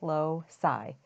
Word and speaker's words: loci: marked the long vowels in there so the pronunciation is a little easier low PSI Locus is really means a path and it's